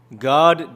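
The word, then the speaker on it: Gad: you go on Google and you type in God definition you'll see this little name pop up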